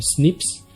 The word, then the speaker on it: SNPs: sus siglas en inglés snps o lo pronunciamos como snips y esto influencia la